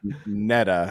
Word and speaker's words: Nita: And actually her name is pronounced Netta, and she's not.